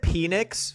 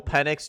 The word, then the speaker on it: Penix: But well, I said penix for Michael Pennix Jr. because his name is spelled p n iix. So like and I was like everyone was like whoa pause it's Penn like bro and caniple like